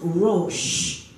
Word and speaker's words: Rosh: But when it is filled with the power of the Aleph, when it is spelled Resh, Aleph, Shin, then it means Rosh. It means head.